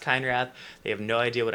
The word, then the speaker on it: Keinrath: It's pronounced Keinrath.